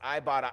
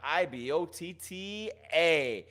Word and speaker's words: Ibotta: That's right, it's pronounced Ibotta, Ibotta.